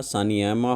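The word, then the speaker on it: Sanayaima: नाम है ठीक है ठीक से मैं इनको प्रोनाउंस कर रहा हूं तो आप देख लीजिए आप भी एक बार इसको साना तोय मा हो गया आपका सानिया मा हो गया और सान जबा हो गया ये तीन उनके बेटे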